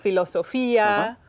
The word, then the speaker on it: filosofía: And you'll notice words right away that start to rhyme with fotografía, Alegría, alegría, mediodía. filosofía. All of those etcétera. ia ending words use an accent on the I.